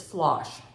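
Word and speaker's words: floche: h e thread is this word is flosh she says it's like Josh flosh so I hope I'm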